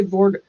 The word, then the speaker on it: voir: I say voir because I know that that's how you pronounce voir. My mom spoke French, spoke, whatever. So, but because it's D-I-R-E, I say dire. I mangle it.